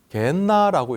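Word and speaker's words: γέεννα: 그런데 이 게힌나를 헬라어로 음역했을 때 게엔나라고 읽어요.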